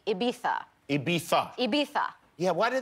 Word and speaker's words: Ibiza: So this movie, Ibiza, is that the right way to pronounce Ibiza? No. No. No. But it's what we say in the film. I think it should be Ibiza.